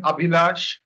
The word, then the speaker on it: Abhilash: good at mangling names they pronounce my name abhilaj okay okay let's